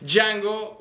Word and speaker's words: Django: el día de hoy Django un Chain la d no se pronuncia Aparentemente Así es la